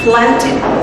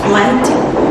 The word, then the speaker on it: planted: sound of the so if this word is added by E ending you have to pronounce the word become planted or planted once more planted or